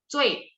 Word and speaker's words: 最: Jadi, 最, nada 4 ya. 最, biasa aja lidah saya nggak diangkat. 最.